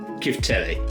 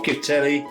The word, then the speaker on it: Chiftele: And Chiftele, or Chiftele, it's my pronunciation because I'm English.